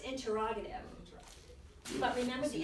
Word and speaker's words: interrogative: Remember, Is it interrogative or is it interrogative? well, it's pronounced interrogative.